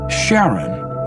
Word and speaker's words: Charon: Christie suggested the name Charon after the ferryman of Pluto's underworld in Greek mythology, but preferred to pronounce it Sharon, more like his wife's name, Charlene.